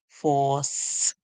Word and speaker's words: force: When C comes before E, I, or Y, we hear a song like S. So we hear S, force. The E at the end is silent.